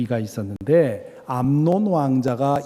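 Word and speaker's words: 암논: 돈황 자에게서 시작이 됩니다 암 논 발음을 잘 해야 됩니다 압살롬이 라는 이름도 좀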